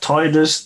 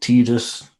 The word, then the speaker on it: Tidus: is pronounced Tidus, not Tidus.